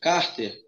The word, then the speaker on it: cárter: Se eu pensar na palavra paroxítona, cárter, onde está a sílaba mais forte? No car.